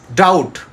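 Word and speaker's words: doubt: letter be যেমন কম সিওম কম আমরা বি উচ্চারণ করব না ডাউট ডাউট কোন ডাউট আছে এই বিষয়ে তোমার কি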